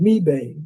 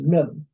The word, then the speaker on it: Mebane: When you read it, it's spelled Mebane. And I was saying Mebane, but I was corrected. It's not Mebane, it's Mebane.